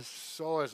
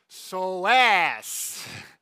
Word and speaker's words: psoas: We need to talk about the pronunciation of the psoas muscle. Now, I have heard a professional pronounce it as psoas.